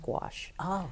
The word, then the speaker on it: gouache: but it's geo you a CAG and it's pronounced quash it's actually a paint that's diluted with water